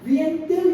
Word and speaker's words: vient-il: Note the pronunciation. Vient-il de parler?